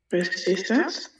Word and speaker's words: resistance: Yeah, este es como con una Z.